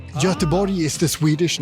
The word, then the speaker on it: Göteborg: the English name, but he said something like Göteborg or so. What did he say? Say that again. Swedish name. Göteborg is the Swedish Göteborg.